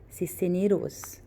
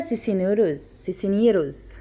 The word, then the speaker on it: Cisneros: Sandra, let's pronounce it correctly, Cisneros. Sandra Cisneros, okay? Cisneros.